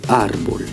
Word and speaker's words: árbol: Or, ce mot porte un tilde ici. Donc, le mot est finalement accentué sur la syllabe qui est désignée par le tilde. On va donc dire finalement el árbol.